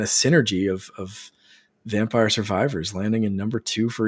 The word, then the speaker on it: Survivors: vampire survivors hopefully uh saviors I call it survivors saviors it's yeah I always get the name wrong in 2023 it's going